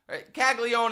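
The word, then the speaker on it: Caglianone: Kagleion is how they're going to pronounce it. I'm going to pronounce it Kaggleone.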